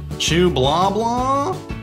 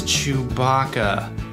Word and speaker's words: Chewbacca: Chew blah blah? No, his name is Chewbacca.